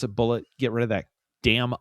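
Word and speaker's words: Bulleit: That's gonna be bullet bourbon. It's not ble. It's not a French bourbon. Look, if you want me to pronounce a bullet, get rid of that damn eye out of it.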